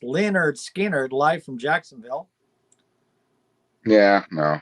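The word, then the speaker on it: Lynyrd Skynyrd: half speed master cr i'm not interested yeah pronounced leonard skinner live from jacksonville yeah no i'm not interested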